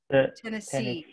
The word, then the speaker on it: Tennessee: Where's the stress? Tennessee. On the last one. Syllable.